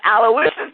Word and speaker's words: Aloysius: Aloysius.